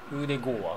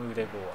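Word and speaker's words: Ødegaard: ウーデゴーア。ウーデゴーア。ウーデゴーア。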